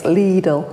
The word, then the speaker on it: Lidl: It's Lidl.